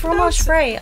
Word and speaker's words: fromage frais: How do you pronounce that? Frais. It's fromage frais.